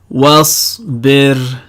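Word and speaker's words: واصبر: Now this word, if we were to pronounce it, take off the waw, then you'd apply rule 3, because neither rules 1 nor rules 2 apply. Isbir. However, because we're connecting it to a waw, the hamza becomes silent.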